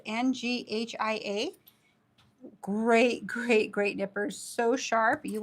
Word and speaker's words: Nghia: They're from, I don't believe you pronounce the N, but it's NGHIA.